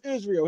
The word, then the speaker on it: Israil: His name is Israel.